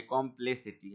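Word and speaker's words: complicity: ایک ہوتا ہے کمپلیکسٹی، دیکھو کمپلیکسٹی نہیں ہے، یہ کمپلیسٹی ہے، ذرا اس کو آپ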